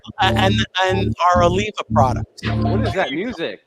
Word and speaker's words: Oliva: Olivia, and that's the new. That's a new brand. That's Oliva. Oliva. Yeah, someday you'll get a pronunciation. Olivia.